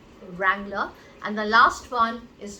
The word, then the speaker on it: Wrangler: So the W again is not pronounced. This is an American brand, and it is called Wrangler.